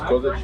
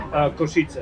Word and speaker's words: Košice: Is this Kozice or what was the name of the town? Sorry. Košice.